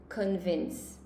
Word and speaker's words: convince: a lot, convince, and it's not the best pronunciation, okay? So it is convince.